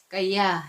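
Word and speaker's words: kāya: 여기 위에 보면은 스펠링으로 KA Y라고 돼 있는데 A위에 짝대기가 하나씩 있잖아요. 그래서 이거는 빨리어예요. 그래서 어 까이야 까야 이렇게 읽는데이 까이야는 몸을 뜻하고 누바 하나는 계속 지켜본다라는 말이에요.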